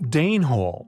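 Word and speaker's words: Denehole: Denhole, yet pronounced Danehole after the Danes.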